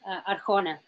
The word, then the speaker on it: Arjona: know if that's the I've got the right pronunciation huh the last name is Arjona thank you a-r-j-o-n-a yes thank you thank you